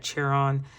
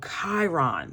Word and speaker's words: Chiron: on what house that cheron I hope Chiron Chiron a cheron am I saying it right okay don't laugh at me all right so Chiron that's how you say it dur Nicole all